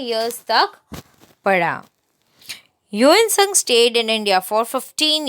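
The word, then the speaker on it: Hiuen Tsang: इसको कैसे प्रोनाउंस करते हैं? ह्यूएन सांग. ह्यूएन सांग.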